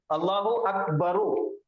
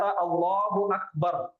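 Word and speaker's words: الله أكبر: लेकिन हम यहां पे रुक जाते, सुकून करते, आयत करते। इस वजह से ये र के पेश को हम सुकून में बदल देते। तो ये हो जाता अल्लाहू अकबर।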